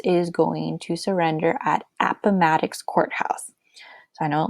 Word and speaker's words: Appomattox: spell my last name Appomattox sounds like Maddox like mrs. Maddox so if you can't remember how to say it think of me it's ok you can go Apple Maddox like if I created an app Apple Maddox